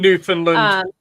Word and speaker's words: Newfoundland: I don't know if that's how you say it. New Funland or Newfoundland. New Finland.